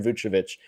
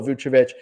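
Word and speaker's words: Vukčević: And his name is Tristan Vouchevich. I've heard multiple pronunciations. I've heard it's actually Vouchevich. Seen Vouchevich, just like Nikola Vouchevich.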